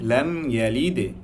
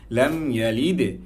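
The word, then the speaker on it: لم يلد: আমরা অনেকে পড়তে পারি লাম ইয়ালিদ ওয়ালাম ইউলাদ, লাম ইয়ালিদ দালের যে কলকলার যে একটা আওয়াজ কিংবা যেই উচ্চারণটা করতে হয় আমরা সেটা অনেকে জানি না কিংবা করি না, কিন্তু আপনি যখন কলকলাটা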